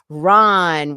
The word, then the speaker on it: Rahn: And it's Ron with an AH, like because if there's no H, it would be Rand, which people have pronounced my last name Rand before.